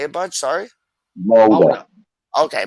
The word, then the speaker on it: Molde: Mulder. Okay, Molde.